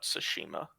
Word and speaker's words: Tsushima: sometime this year yeah it's like a tsunami but tsushima the t is silent yeah um i think